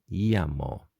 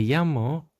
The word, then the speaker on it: llamo: Me llamo Maria. Me llamo Maria. Me llamo Maria. So you can see double L in Spanish is pronounced like E, a long E.